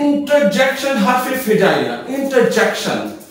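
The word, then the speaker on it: interjection: फिर होता है इंटरजेक्शन, हर्फ फिजाइया, इंटरजेक्शन, आर is silent, इंटरजेक्शन का मतलब होता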